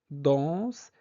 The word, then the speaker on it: dansent: dansse etchante faites attention e n dans les verbes ne se prononce pas ça c'est le verbe